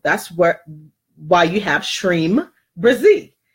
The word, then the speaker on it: Shreem Brzee: where why you have shreem Brizzy shreem brzee and that's how you pronounce it so the power times